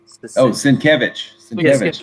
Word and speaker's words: Sienkiewicz: Yeah, the replacement for I can't pronounce his name. Bill Straczynski. How you say that? Sienkiewicz.